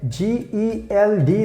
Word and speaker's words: Geld: G-E-L-D. That means we pronounce like Geld.